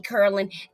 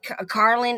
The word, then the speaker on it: Carlin: It was something wrong with me, Curlin. Carlin is how you say it.